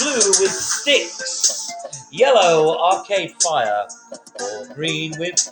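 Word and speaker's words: Styx: Gail says Oh bitsy has the correct pronunciation it is sticks the band six babe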